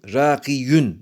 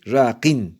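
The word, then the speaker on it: راقٍ: İntikam rakiyün aslında tabii rakiyün zor olduğu için söylemek rakin diye telaffuzda kolaylık olsun diye böyle yapılmış.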